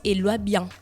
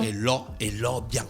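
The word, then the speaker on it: Elok Biang: Après, on a s'écrit Elok, Biang. Mais là, on m'a dit qu'on prononce Eloi bien. Eloi, bien. Elo, bien. Elo. Pas Eloi. Mais c'est Elo. Elo, Oui. Elo bien.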